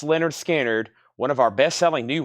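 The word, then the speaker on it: Lynyrd Skynyrd: Trey Tidwell opening up with the classic original pronounced Leonard skinnard one of our bestselling new records analog Productions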